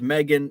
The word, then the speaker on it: M3GAN: Pronounced Megan.